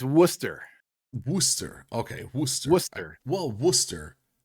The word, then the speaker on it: Worcester: as well well then I would say it's War sister so it's it's Worcester Worster okay Worcester wer well Worcester Worcester the sauce